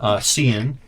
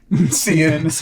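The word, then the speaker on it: Sean: Cian. Seeing. I like it. Seeing that's perfect. One name, like Cher. Yeah, it's spelled S-E-A-N.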